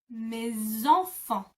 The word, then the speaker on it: mes enfants: Again, because enfant it begins with an E, and this time mes ends with an S, you glue them together and the S becomes a Z sound.